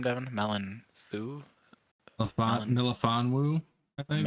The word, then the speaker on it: Melifonwu: Milifonwu, I think. Melifonwu.